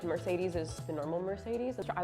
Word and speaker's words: Mercedes: like the Spanish version because the C you say very soft it's because I am